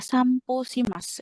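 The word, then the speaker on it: さんぽします: samp kan huruf N ketemu huruf P ya kan ini N ini P O ya kan. Nah huruf N ketemu huruf P. Nah kalau kita dalam eh hotswong atau pembacaan itu yang benar adalah samposimas ya. Huruf N ini akan menjadi M teman-teman.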